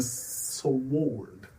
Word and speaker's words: sword: Also, none of those letters were silent in there, but there's a silent W in sword.